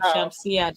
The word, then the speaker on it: Shamsia: Thank you to Madam Shamsia, Dr. Shamsia. Am I correct? Yes, you got it right.